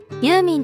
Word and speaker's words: ユーミン: る有名の発音からユーミンと名付けられたそうです。